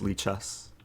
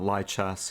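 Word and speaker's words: lichess: of how to pronounce lee chess so the li it stands for libre it's not an acronym it's just uh yeah libre meaning free so it's not lie chess it's not lhs it's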